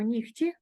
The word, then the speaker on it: нігті: кігті з буквою г далі ми вимовляємо нігті перевіряємо ніготь і пишемо з буквою г тільки далі вимовляємо ми